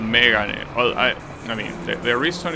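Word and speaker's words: Mégane: It even has the accent in the first E. So you know that it's pronounced Megane and not Megane, right? Because yeah, that's how you pronounce the Japanese word. It's Megane. That's the pitch accent you need.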